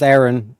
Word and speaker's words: Éireann: And again, like this word, like Éireann, pronounced Aaron, but like as an English speaker, like E-I-R, air, E, and then A-N-N, Arian.